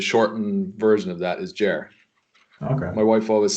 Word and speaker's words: Ger: But you always it's like Ger, and someone with an American inflection would be like Ger.